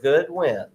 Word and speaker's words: Goodwin: And I want to first of all tell you, if you think I'm mispronouncing his name, I'm not. It is Dr. Goodwin, and that is appropriate because it's a good win for Natchez to have him at the Natchez campus.